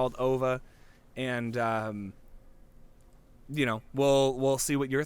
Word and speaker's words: Ove: They call him Ove in the movie, but it's spelled O-V-E.